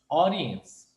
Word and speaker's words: audience: oriens oriens e que o d quando você pronuncia rápido ele se torna o som de R então vai ficar assim ó oriens audience e esse th tem